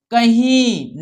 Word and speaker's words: कहीं: कहीं, ना भी साथ में बोलोगे कहीं।